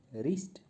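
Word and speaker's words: wrist: Knife, knife में के जो है ये साइलेंट लेटर है। और रिस्ट, रिस्ट में डब्ल्यू जो है साइलेंट लेटर है।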